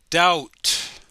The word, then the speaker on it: doubt: or do you it the bee is silent can you pronounce it doubt or do you doubt